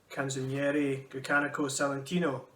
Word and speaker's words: Canzoniere Grecanico Salentino: Your group, Canzoniere Grecanico Salentino. Perfect pronunciation.